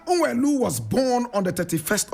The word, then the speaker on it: Nwelue: Onyeka is spelled O-N-Y-E-K-A. Nwelue is N-W-E-L-U-E.